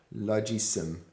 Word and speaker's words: Logisim: You really have problem pronouncing it, but I do love it. I do have a pronunciation problem with this word. Logisim. Logisim. Okay. Yeah, I've got it now.